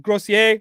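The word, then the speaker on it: Gosselaar: I never know how to say his last name. Grossier. Yeah, but because I'm Canadian, I guess, so I have to say it slightly French.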